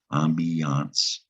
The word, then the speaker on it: ambiance: eye on those eyes there is an i in the middle of this word ambiance that is a noun and the i in ambiance is making a long e sound as an ambiance ambiance tricky to spell the